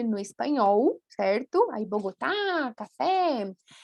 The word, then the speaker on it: café: Aí sim, quando termina em E, com acento gráfico, nós não substituímos a pronúncia, tá? Então é forte. Café, cadê? Tem um E aí bem claro, tá?